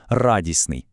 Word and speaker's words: радісний: Теоретично мало б вийти радісний. Ну, спробуйте вимовити, незручно, правда? Тому звук т просто зникає, і ми отримуємо легке, плавне і красиве слово радісний.